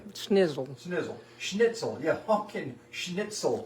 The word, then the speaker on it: Schnitzel: Uh, the the vener is veer schnitle is pork. Jagger schnitle is pork. Yeah. It's not like hot dogs. It's not vener snitle. Today we're doing hunchen schnizzle, which is snitle.